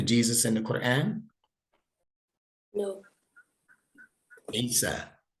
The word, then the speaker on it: Isa: Isa, ISA. See, sounds like Esos.